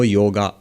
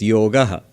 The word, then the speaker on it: yoga: yoga not a yoga in Hindi you would say yog in Bengali yog but never yoga so what is this